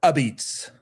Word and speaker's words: apizza: There's a place called Ozzy's Pizza, and it's spelled Apizza, which is pronounced Abits.